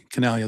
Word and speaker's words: Chinaglia: Canalia, that's his name.